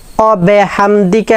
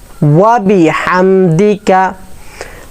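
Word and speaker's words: وبحمدك: ওয়া ওয়াবি ওয়াবিহামদিকা ওয়াবিহামদিকা অবিহামদিকা এরকম বলবো না হাটা হলকের মধ্যে থেকে উচ্চারণ করার চেষ্টা করবো হা যদি হা এর মত না বলি ওয়াবিহাম এভাবে না বলে যদি ওয়াবিহাম ওবিহাম বলি তাহলে অর্থ পরিবর্তন হয়ে যাবে হ্যাঁ ওয়াবিমকা ওয়াবিহামদিকা ওয়া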